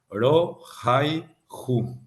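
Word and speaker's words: rohayhu: It's a little bit tricky, but it's pronounced ro hai hu. Ro, Hi, yes, hai, hu. hu. Exactly. Oh, pretty Ro. good. Yes. Okay, but Uh, this R should be different.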